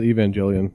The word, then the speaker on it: Evangelion: just n GE it's that was pronounced Evangelion because the Evangel it means well you can have evangelical people or an evangelist ence but it's they do the hard G for in that for